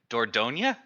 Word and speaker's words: Dordogne: Oh God, I'm gonna mispronounce it again. Dordogne?